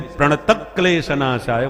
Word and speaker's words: प्रणतः क्लेशनाशाय: बल लगाया जाता है, तो चूंकि आधे क्लेश शब्द है इसलिए प्रणतः क्लेशनाशाय बोला जाता है। प्रणतः क्लेश विसर्ग नहीं है।